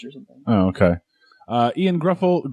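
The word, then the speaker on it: Gruffudd: Ian Gruffold? Grufford?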